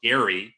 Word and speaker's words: Gerry: And the reality is, for those of you who may not know the origin, it actually is named after Eldridge Gary, pronounced with a hard G, who was a signer